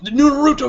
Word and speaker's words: Naruto: narut narut Nar narut emphasis is on the na not the ru a lot